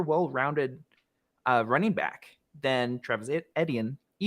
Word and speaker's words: Etienne: running back than Travis Etienne. How do you pronounce that name? Just think of it as letters. The letter E, the letter T, and then the letter N.